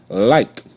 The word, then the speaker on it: like: Like. L. I. Like. Like. Like. E is silent.